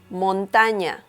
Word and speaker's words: montaña: Mountain in Spanish is montaña. Montaña. So obviously the pronunciation is different. And you gotta pay attention to the ña sound, or the sound of this peculiar letter ñ.